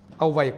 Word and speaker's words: আহ্বায়ক: আহ্বায়ক, very good, আহ্বায়ক অনেকে শুদ্ধ করে পেরেছেন, অন্তস্থিয়াটা উকারান্ত হয়ে যাবে আহ্বায়ক, মাশাল্লাহ মাশাল্লাহ।